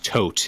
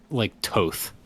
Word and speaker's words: Thoth: Okay, it's not pronounced like tote. It is pronounced as a non-voiced th, which is not a sound we have in English. It sounds like toth or like toth.